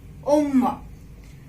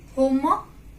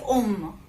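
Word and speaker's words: homme: Now here H you will not pronounce in front of word. Okay, like om. You will not say home. It is om.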